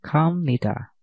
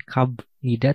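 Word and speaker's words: 갑니다: kam Nita koayo dan kamnita oke itu bukan knida tapi kamnita ya kamnita selanjutnya Mari kita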